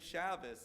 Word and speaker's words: Shabbos: or other Germanic languages, you have one of the letters in the Germanic that's pronounced like a S sound.